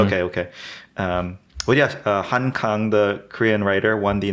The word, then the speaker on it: Han Kang: last 2 months was Han Kang. Mhm. So, not to be confused with Han Kang, which is the Han River. Oh, it's the same. It is the same pronunciation.